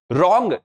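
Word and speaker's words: wrong: रॉन्ग W silent. सीधा आर ओ एन जी पढ़ रहे हैं लेकिन लिख रहे हैं डब्ल्यू आर ओ एन जी W silent हो गया रॉन्ग मींस गलत ऐसे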